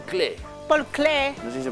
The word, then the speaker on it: Klee: De este Acuérdense que se dice Paul Klee. Paul Klee. No se dice Paul Klee.